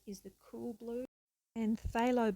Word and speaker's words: phthalo: the cool blue and phthalo blue with the silent p is the warm blue